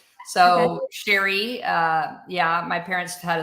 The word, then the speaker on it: Cheri: And by the way, it's it's pronounced the French way, Sherry. So, Sherry uh yeah, my parents